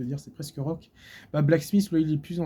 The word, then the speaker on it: Blksmiith: Donc Blacksmith, ça s'écrit BLKSM2ITH.